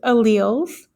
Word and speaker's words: alleles: YZ that's not how you pronounce it it's pronounced alleles and alleles are variants or differences in the